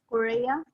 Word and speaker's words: Korea: place Korea Korea Korea that's how you say it in English is Korea long long o oh